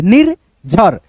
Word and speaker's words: निर्झर: नी फिर र की मात्रा है, रेफ की मात्रा है तो झ से पहले, निर्झर, निर्झर, निर्झर ऐसे करके।